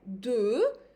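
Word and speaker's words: deux: Then we have 2, 2, it's mild, I'm not pronouncing the X.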